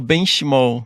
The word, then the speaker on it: Benchimol: estou aqui com Maira bench Mall como que pronuncia seu nome benm bench Mall bench Mall fern BM é italiano não é